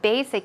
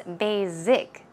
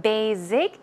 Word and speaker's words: basic: faster cholesterol and basic the reason I included basic is because although it is a very easy word um I have notice that many people a number of people actually pronounce that word as basic z z sound that is incorrect try to